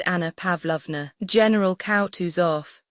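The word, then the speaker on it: Kutuzov: General Koutus off said Bulconsky speaking French and stressing the last syllable of the general's name like a Frenchman has been pleased to take me as an aid to camp.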